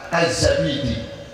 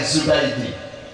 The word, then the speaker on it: Az-Zabidi: Disarai, disebarluaskan, diperpanjang, dijelaskan oleh Imam Az-Zabidi. Ada yang bacanya Az-Zubaidi.